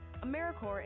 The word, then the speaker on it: AmeriCorps: AmeriCorps is alive and well, just spelled with a silent P. So think of Apple Core or Core of the Earth.